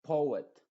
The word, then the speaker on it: poet: Y finalmente, poet, poet. En algunas ocasiones quizá esta OE se van a pronunciar juntas, pero no en estos casos. En poem, coerce y poet.